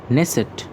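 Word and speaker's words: Knesset: ওকে, next হলো নেসেট। ওকে, এখানে কেটা সাউন্ড উচ্চারণটা নেই।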